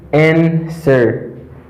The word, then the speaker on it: answer: When you say answer, it's not correct. It's not answer. Là, W dans la lui-même n'est pas prononcé. The letter W is silent.